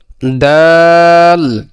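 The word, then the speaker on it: دال: তাহলে দালের উচ্চারণ হলো যে জিহ্বার আগাম সামনে উপরের দুই দাঁতের গোড়ার সঙ্গে লাগাইয়া। দালের উচ্চারণ কি? জিহ্বার আগাম সামনে উপরের দুই দাঁতের গোড়ার সঙ্গে লাগাইয়া দাল, দাল।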